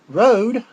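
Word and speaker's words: Rohde: Rogers AKA Herman Gustav Road Junior that's not Rhodes it's spelled it almost spelled the same the pronounce the same with his last name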